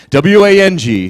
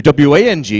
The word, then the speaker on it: Wang: You know, W-A-N-G and W-O-N-G are both pronounced the same way.